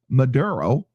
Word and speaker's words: Maduro: edge following the US capture of President Nicholas Maduro.